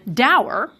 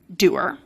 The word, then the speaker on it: dour: American Heritage does include both and adds a usage note saying that the word traditionally rhymes with tour, doer, but the variant pronunciation,